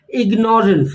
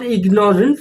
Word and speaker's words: ignorance: Now many of us pronounce it as ignorance, but it's not ignorance, it's ignorance. Ignorance.